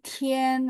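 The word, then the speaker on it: tian: i a n Bu jadi Tien walaupun kita bacanya t i e n tapi tulisannya harus t i a n singya pakai x i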